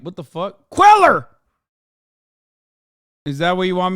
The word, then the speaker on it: Cuellar: Henry Cuellar, brother, that's how you say it, goddammit.